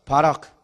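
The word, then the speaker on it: ברך: 바락. 다시 한번 바락. 이 바락이라는 이 뒤에 큰은요 거의 묵음이랑 비슷해. 그래서 히브리어로 바락이래요.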